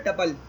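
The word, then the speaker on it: tuple: अच्छा, इसी तरह एक हमारे पास होता है टपल। टपल कुछ लोग इसको टपल बोलते हैं, कुछ टूपल बोलते हैं, ठीक है, डिफरेंट प्रोनाउंसिएशन है, तो जो आपकी मर्ज़ी आप इसको यूज़ करें यहाँ पे, ठीक है।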